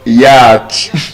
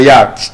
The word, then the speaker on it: yacht: It's not yacht, it's yacht. Yacht. Yacht. Yacht. Yacht. So, we have other examples like that which means you see I find it interesting because there's no letter O in that word.